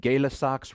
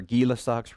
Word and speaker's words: Gay-Lussac: law we have, and whether you pronounce it Gay-Lussac's rule or Guy-Lussac's rule, we all know, because we watch plenty of hockey, that Guy is actually G-U-Y. We say Guy, but it's pronounced Guy in a good French Canadian kind of way of saying it, right?